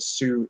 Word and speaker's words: Sioux: said yeah I know it's su as in like yeah the Sioux Sioux lands Sioux Native Americans all